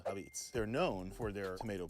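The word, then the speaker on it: Apizza: This is making me want is how we pizza, pronounce dude. it, not a pizza, Abits.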